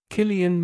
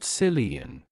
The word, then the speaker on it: Cillian: the new Oppenheimer movie Killian Murphy Killian Murphy Killian not Cillian